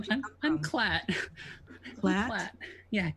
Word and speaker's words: Klat: Clat. Yeah, KLAT. I think Hello, that's how you say it in common.